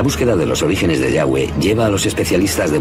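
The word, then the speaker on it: Yahweh: y hw así y pensamos que probablemente se pronunciaba yagüe o algo así pero ya ve solo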